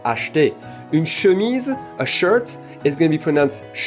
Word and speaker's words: acheter: We don't speak that slowly, so acheter is never going to be pronounced acheter, it's always going to be pronounced acheter.